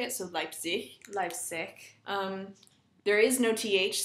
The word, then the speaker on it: Leipzig: The Z is pronounced with a TS sort of sound. So Leipzig, or Zerbst, or Zwickau.